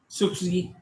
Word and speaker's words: SCSI: small computer small interface now pronounced as SCSI sukh see there's a parallel interface